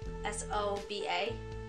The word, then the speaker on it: Soba: say this so soba s.o.b a soba like soda but with Abby I